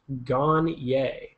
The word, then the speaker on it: Gagner: is your favorite browser my last name is pronounced gonier oh so CJ G